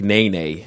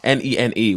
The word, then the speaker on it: nene: like i don't know there's strange ones like nae nae n-e-n-e which is a bird in hawaii or um